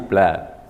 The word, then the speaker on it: blood: Except blood, kecuali tadi blood dibaca A pendek.